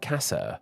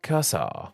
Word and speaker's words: casa: the same way but in Spanish both A's in this word are said the same way and the word is pronounced like Casa whereas in Portuguese there